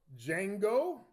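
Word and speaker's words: Django: remember the scene from Jango the D is silent well I feel sorry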